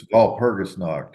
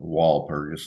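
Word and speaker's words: Walpurgisnacht: of me because I do the ger German pronunciation but it's V perus KN in in um Germany people say stop doing that call it wall perus not you know proun anyway the uh um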